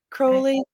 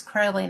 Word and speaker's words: Crowley: Crowley, because it was so funny because like when